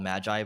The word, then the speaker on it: Magi: So I pronounce it Magi just because I played a lot of games and usually they're called Magi, but you can call it Magi if you want.